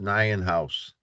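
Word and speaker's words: Nyenhuis: It's N-Y-E-N-H-U-I-S, pronounced Nyan House.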